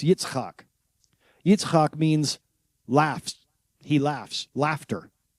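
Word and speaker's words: יצחק: In Hebrew, it's pronounced Yitzk.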